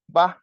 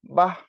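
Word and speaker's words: বাঃ: বিসর্গের উচ্চারণ হ এর মত।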